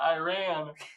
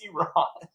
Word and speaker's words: Iran: There are you Cameron Army just got deployed to Iran. Boom. You said it wrong. It's Iran.